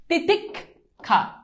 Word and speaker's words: তিতিক্ষা: ক খ ক খ যেমন দেখ তিতিক্ষা এইযে দেখ তুমি নরমালি উচ্চারণ কর তিতিক খা এইযে দেখ ক খ তিতিক এরপর যদি শুরুতে